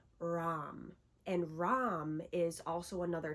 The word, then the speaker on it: Ram: However you want to pronounce that, I say it as Ram, and that's how I've heard a lot of Hindus and a lot of other spiritual practitioners speak it.